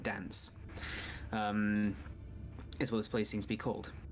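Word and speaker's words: Danze: label this place as Fort Dance, spelled with a Z, not an E, well, not S. So Fort D-A-N-Z-E, Fort Dance, is what this place seems to be called.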